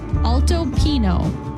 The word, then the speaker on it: Alto Pino: going to be called Alto Pino altoo Pino pino there's no till day over the end what's a till day